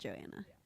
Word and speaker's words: Johanna: gonna pick um Johanna which is how I say her name I feel like you say it Joanna but I say Johanna because there's a h an H so I'm gonna pick